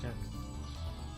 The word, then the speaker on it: Jacques: Oh, Jocks was the other one. Jocks was the pronunciation that everyone told me it was. It's Jocks. It's Jacques. It's Jacques. I'm telling you, it's Jacques.